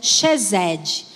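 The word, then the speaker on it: חסד: ter amigos né A a palavra amizade ela ela se pronuncia cheesed e essa mesma palavra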